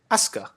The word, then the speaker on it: Asuka: Asuka.